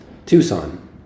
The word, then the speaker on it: Tucson: How do you pronounce that? Sonoran? Is that? No, Oh, Tucson. the city. Tucson.